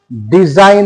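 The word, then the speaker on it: design: তাহলে এই সাইন কিন্তু এখানে জি এর কিন্তু উচ্চারণ আমরা পেলাম না এরপরে আমরা যদি দেখি তাহলে যেমন আমরা এরকমও দেখতে পারি ডিজাইন দেখতে পারি ডিজাইন ডিজাইন ডি আই এস আই জি এন ডিজাইন ডি ডিজাইন।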